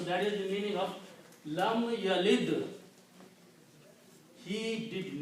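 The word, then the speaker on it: لم يلد: They said, well, there is a vav there. And vav is a weak letter here. Okay? Let's drop this. Let's not pronounce this thing. Okay? So when you don't pronounce, what is left? Lam yalid.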